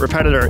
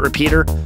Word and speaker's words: Repetitor: dirty video on the gamut repetitor it is a have I been saying gamut repeater oh my God I'm